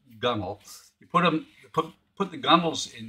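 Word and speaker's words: gunwale: And then you put the, it's spelled gun whale, but it says it's pronounced gunnel.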